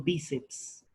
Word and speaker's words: bíceps: Si la palabra lleva fuerza de voz en la penúltima sílaba y termina en N o S, pero le antecede una consonante, entonces sí llevará tilde. Por ejemplo, bíceps.